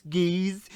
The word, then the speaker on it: Geats: I hope it's not pronounced Gates, because we already have a Gates technically. And somebody's like, actually, it's Gaze. And it's like, that's how it's spelled, but it definitely sounds like it's saying Gates.